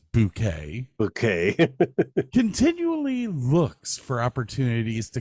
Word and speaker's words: Bucket: Hyacinth Bucket, whose name she insists is pronounced Bouquet, continually looks for opportunities to climb the social ladder.